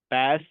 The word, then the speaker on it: PaaS: We pronounce this S आईएस, पैस and cess.